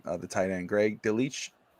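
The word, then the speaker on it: Dulcich: The tight end Greg Delich Dolich uh absolutely had himself a really good game.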